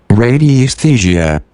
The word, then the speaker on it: radiesthesia: Radii aesthesia? Aesthesia? I guess that's it. Is that how you pronounce that? Let's see how you pronounce that. Radii aesthesia. Then we'll find out what it means. Radiesthesia.